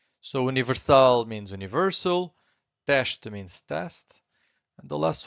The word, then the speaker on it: teste: So again, S before a consonant, it's a sh. 2 syllables here, we have to stress the first one, so it's teste. So we stress this one, and the second one is weak. Not silent, but weak. Teste.